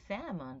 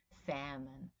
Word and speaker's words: salmon: Sheep, you know, place is a type of fish, and salmon, by the way, let's look it up because I want you to pay attention to the pronunciation, right? Salmon. We don't pronounce that L, right?